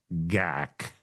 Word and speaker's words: GAC: We're going to shorten it down to GAC, pronounced Gak.